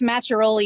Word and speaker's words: Machiarola: to storm king mountain with aaron macharoli it's machiarola you always sound so tentative when you say